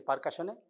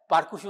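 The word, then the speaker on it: percussion: পারকাশন এখানে কিছু লিখেছে পারকাশনে হ্যাঁ কি লিখেছে লাইফেশনস all areas of liver and এনার্জ or second shooting হ্যাঁ পারকুসু না পারকাশন পারকাশন এই উচ্চারণগুলো দেখে নেবে বুঝতে পেরেছ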